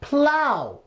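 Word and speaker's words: plough: in case you don't its plow plow so what sound is all ugh making in this word it's oh I just ow it's out so that's too rough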